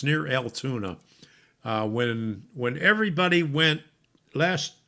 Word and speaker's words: Altoona: good to see you so el tuna there you go go altoona all right there you go rusty that's how you say it okay okay steve says